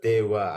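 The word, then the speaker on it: では: Nah, terus Dewa Arimaseng atau Ja arimasengnya dia itu diartikannya bukan. Hai, hurufnya itu kan DH ya, Minasang tapi dibacanya jadi dewa. Dewa Arimaseng atau Ja Ariaseng.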